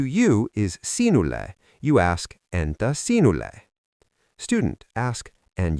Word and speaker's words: entä: to say "And you?", you use the word Entä. Mnemonic: Think of saying "And-ta thanks for asking!" Because "to you" is sinulle, you ask: Entä sinulle?